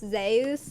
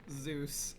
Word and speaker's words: Zeus: that I found out that Zeus is actually pronounced zus in current Greek what yes I am today